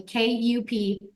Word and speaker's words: Kuperman: My last name is spelled kind of funny, Kuperman, Superman with a K, we say.